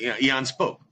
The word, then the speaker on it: Aeon Spoke: scratching their head, going, "Is it Aeon Spoke or is it Eon Spoke?" I mean, how you pronounce it? I do Eon, but I mean, I don't. Eon, right? I'm not sure. That's how. Eon. That's how Eon Spoke.